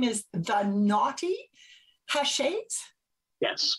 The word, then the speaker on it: Knotty Haches: now right and the business name is the naughty ha shades yes correct i said it right yep perfect